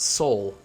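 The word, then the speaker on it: Seoul: that I learned that their capital is pronounced Sol Sol like Sol Sol or the sole of a shoe I don't know something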